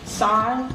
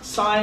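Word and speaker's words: Syeh: Sy. Sy is spelled S-Y-E-H.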